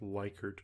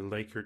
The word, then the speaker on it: Likert: when you're dealing with likert questions or laker questions i've heard it pronounced two different ways but rating scales nonetheless